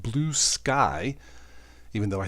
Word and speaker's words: Bluesky: media Internet site sensation blue ski or blue sky I think it's pronounced blue sky blue ski sounds like a beer anyway this has I